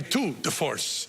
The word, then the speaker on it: tour de force: but we thought that the waterfall was a tour de force. Am I saying it right? Yeah. A tour de force.